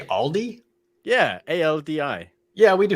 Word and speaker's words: Aldi: about oh yeah so aldi aldi however you aldi i don't know how you pronounce it well generally your average american says aldi's and adds the s to it so yeah all these